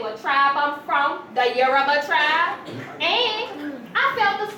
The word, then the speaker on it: Yoruba: I might be your Yoruba too, right? Girl, what? You mean Yoruba? First you gotta learn how to say it, Lloyd.